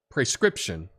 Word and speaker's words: prescription: way to pronounce uh prescription okay is with the pre pronounced like prey okay so the word